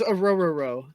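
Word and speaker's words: Orhorhoro: did, but it doesn't mean I can pronounce it. Ororo? It's Ororo.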